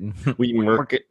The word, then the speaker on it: WeMRKT: So WeWRKET, it's spelled, it's actually We, and then all in capitals, MRKT, because that's how people like to spell things now. Market. WeMRKET.